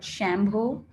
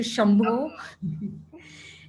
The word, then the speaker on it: Shambho: But I think another one that comes to mind is sometimes I've heard Shambho as opposed to Shambho.